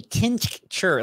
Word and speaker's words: tincture: it's that extra end dustin says a tin sure like there's a sound in the middle i just like tincture like they're from appalachia all right i have very